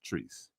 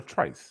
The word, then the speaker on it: Treese: Just so you know, her name is Treese. Treese. Shout out Treese. Treese. Well, did we say it wrong? Yes, you called her Trice.